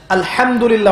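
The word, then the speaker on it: الحمد لله: আলহামদুলিল্লাহ অর্থ মানে কি? এখানে যে হা আছে, এটা কি বড় হা না ছোট? হুত্তি না হাওয়াস? হায়ে হুত্তি, এটাকে বলে বড় হা। উচ্চারণ কোথা থেকে করতে হয়? মাঝখান থেকে।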